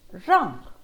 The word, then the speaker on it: wrong: these words okay and the letter w is always silent when it's at the start of the word and in front of the letter r like in right wrote wrist wrong sometimes you don't hear